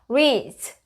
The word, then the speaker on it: reads: 얘는 뭐 어떤 규칙에 속하지 않으니까 주어가 3인칭 단수일 땐 그냥 S 붙이면 되는데 D하고 S가 왔을 때는 합쳐서 Z 소리 나요. 그래서 reads.